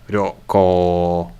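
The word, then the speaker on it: ryokō: is the trip now is it ryoko no it was the first one was short and the second syllable was one ryoko it was so that's what makes it tricky miso can i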